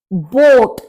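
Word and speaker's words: Boot: taxi बोट बोट अब यहां देखिए डबल ओ है तो चाहे आपका सिंगल ओ हो चाहे आपका डबल ओ हो लेकिन दोनों को हम ओ की तरह से ही प्रोनाउंस करेंगे तो यह आपका होगा बोट इंग्लिश में बोट ही बोला जाता है लेकिन दोनों की स्पेलिंग डिफरेंट है लेकिन प्रोनंसिएशन सेम है बोट इा सेन बान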